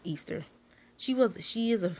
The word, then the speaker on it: Ishtar: they dealt with Easter some people even say Ishtar is supposed to be pronounced Easter she was she is